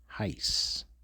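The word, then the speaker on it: εἷς: So this is one and this is in the Greek heist would be the pronunciation Strongs G520 heist heist and this is a numeral.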